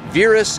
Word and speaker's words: Virus: folks are coming from Eastern Europe and they pronounce it varus and Cena's I guess that's a way to